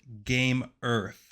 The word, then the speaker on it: Gamearth: We're going to pronounce it Gamearth.